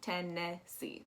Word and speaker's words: Tennessee: that that e is that second e is actually going to be pronounced like an e which is not how they usually say it so it's going to be 10 tennessee underneath there we have